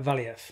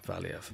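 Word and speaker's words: Valiev: oh yeah of course um amanda lemos uh vallieff there we go valeev yeah yeah yeah lemons we went the wrong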